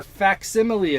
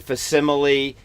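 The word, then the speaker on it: facsimile: facts because they are faximile editions with a c yes and I've been saying fimile because I thought the C was silent but as you know here at funny books nothing is silent yes so it is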